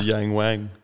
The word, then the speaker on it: Yangwang: of China called yangu is that definitely their pronunciation is it don't look at me but yes it is the Yang Wang yeah Yang's Wang yep no no it's just